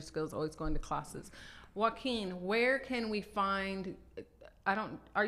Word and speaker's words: Joaquin: They think it's you because they say who is O. It's Hua. It's not Hua. It's Joaquin. Joaquin.